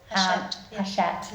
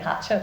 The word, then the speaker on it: Hachette: Hachette. I was going to say Hatchet, which is the wrong pronunciation.